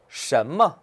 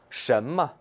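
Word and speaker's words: 什么: 什么? 什么? 네, 발음할 때 꼭 주의해야 돼요. 보세요. 션 같은 경우는 어때요? 권설음이에요. 혀를 올 때 많은 소리죠. 그리고 뭐는 경성이에요. 발음할 때 주의하세요. 什么.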